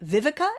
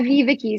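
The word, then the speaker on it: VivaKi: The Associate Director of Offshore Operations Strategy at Vivica. Am I pronouncing that correctly? At Viviki.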